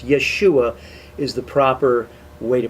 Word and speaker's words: Yeshua: in fact that that's his name but it's yeshua is the proper way to pronounce jesus's name in hebrew and yahshua doesn't